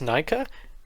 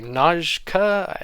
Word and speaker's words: Najka: lot to those guys scorpius nika not sorry najka is how we choose to pronounce it took me a lot